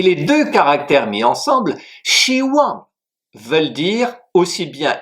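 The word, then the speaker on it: 希: Le premier caractère, c'est Shi, X-I, premier ton qui s'écrit de la manière suivante.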